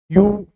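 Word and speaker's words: ewe: ए का यूज करेंगे यू छोटे भेड़ के बच्चे को बोलते हैं यू ई से प्रारंभ हो रहा है फिर भी इसका उच्चारण है यू यह तो हम निश्चित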